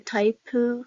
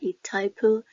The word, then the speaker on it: Itaipu: And so this is like a Taipu, okay, hydroelectric power plant. Some people say like Itaipu. Some people go with a silent, okay, I. So it depends on however you want to pronounce it.